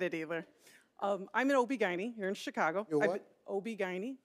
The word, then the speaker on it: OB-GYN: i said it says right here you're an obergen my co-host shirley strawberry was on the floor